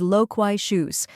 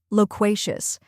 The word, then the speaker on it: loquacious: in low next is Quay which rhymes with say and is stressed then comes SHO which sounds like shoes in cushion now let's put it all together loquacious try repeating after me